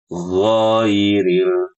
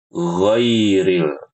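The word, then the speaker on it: غَيْرِ: Dan paling sering di sini bacanya tuh dipanjangin. Giril, giril, giril, giril. Ini keliru ya, Ibu-ibu. Yang benar ghai langsung ghairil bukan ghairil. Bukan seperti itu ya.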